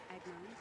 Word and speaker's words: Agnone: It's pronounced Agnon.